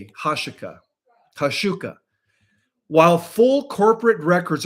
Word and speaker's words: Huachuca: Well, the fact that Erica Kirk and Brian Harple were at Fort Huachuca so close to the time of Charlie Kirk's event cannot be dismissed as a mere coincidence.